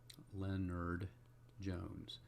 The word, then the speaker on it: Lennard-Jones: Lennard-Jones. And it's not Leonard as spelled like a first name, it's L-E-N-N-A-R-D.